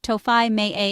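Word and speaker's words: Tógfaidh mé é: Once you decide on something, simply say, togfide me e, pronounced tofai me a in Irish, meaning I'll take it.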